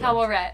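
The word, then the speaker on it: Taweret: Tawaret. That's how you pronounce it.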